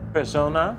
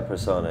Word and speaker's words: Persona: You said you mentioned the recent album, Persona. Yeah. Do I pronounce it right, or is it, yeah? Yeah, Persona. Yeah. Some, I left it open, Person A, Persona, but yeah.